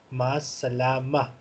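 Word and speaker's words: مع السلامة: Yes, and this round ta at the end is usually pronounced in the voice of ha. Masalama.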